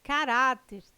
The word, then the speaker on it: caráter: ah e tem correto caráter intransferível e órgãos tem sua sílaba tônica na penúltima sílaba são paroxítonas observação poderia gerar dúvida